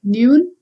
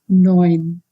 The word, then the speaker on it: neun: Further, EU, this combination, when it occurs anywhere in the word, you need to pronounce it as oi. This is not neun, but it is neun. Neun means number 9.